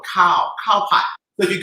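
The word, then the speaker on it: khao: to stir fry and cow doesn't mean by the shape of my body it means right it means um rice cow k-a phonetically k-h-a-o cow cow pot so if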